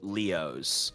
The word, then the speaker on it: Leos: Atticus Laos, which is definitely Leos, like the way I've spelt it, like the way it's spelt, like you would say Leos.